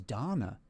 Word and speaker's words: Dana: And I only found out after recording the audio books that the English pronunciation for the name the girl's name is is Donna.